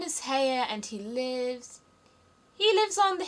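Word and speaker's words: Haigha: His name is Heya." He pronounced it so as to rhyme with mare.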